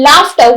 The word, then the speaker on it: laughter: Or in laughter, we have a F sound there, but we don't have F there.